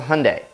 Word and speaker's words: Hyundai: ideal list today well it's the Hyundai rhymes with sunde and it's the Genesis